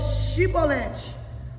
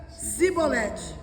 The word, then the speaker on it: chibolete: E dizia, então dizia, dizei, pois chibolete, porém ele dizia cibolete, porque o não podia pronunciar assim bem.